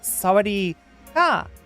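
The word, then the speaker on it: สวัสดีค่ะ: But yeah, and if you identify as female, it's sawadee ka. And I've been told that tone, the uplifting tone at the end of it, is important. So sawadee ka, I think is how you say it.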